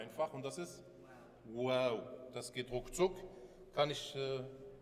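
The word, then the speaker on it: واو: auf Deutsch geschrieben, ja, das ist kein Wav, ja, sondern wow soll das ausgesprochen werden. Und es ist auch kein W, es ist kein W, manche lernen das als W. Ja, sondern wow, wow, ja, also jeder kennt das wow, nur ein bisschen sanfter,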